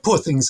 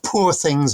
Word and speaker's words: Poor Things: I mean, Poor Things is the big one, and of course, it's Poor Things rather than Poor Things, rhyming with Paw Patrol. Because it has to be very much a, it is a Glaswegian title.